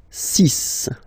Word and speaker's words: six: And be careful here, because even if it's ending with this x, well, you'll have to pronounce it like s, s, okay? So you get the six pronunciation.